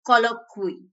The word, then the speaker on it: colloquy: It's colloquy. Actually, the correct pronunciation, do check it.